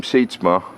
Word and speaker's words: Sietsma: And hello, if you say your name Sietsma, it's the way it's pronounced in Holland, I'm told, and my grandfather said my family's from Friesland, Holland.